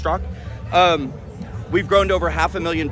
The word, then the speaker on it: Straka: It's pronounced Strzok.